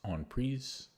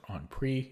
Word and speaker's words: en prise: In my book, I did some research, and it's actually pronounced en prise because it's French. That's how the French say it. But almost everybody says en prise. And again, it sounds pretentious if you say en prise.